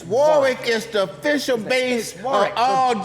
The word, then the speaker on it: Warwick: don't even know how to say it it's Warick is the official base all Detroit pimps okay